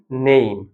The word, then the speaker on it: name: এইটা কাজ করছে এইভাবে কাজ করছে, অর্থাৎ এই ইটা আর এইটা মিলে এই উচ্চারণটা থাকছে, ই এর উচ্চারণটা সাইলেন্ট, আর মাঝখানে যেটা থাকছে এইটার উচ্চারণটা আমরা এইম থাকলে এইমটার সাথে উচ্চারণ হচ্ছে।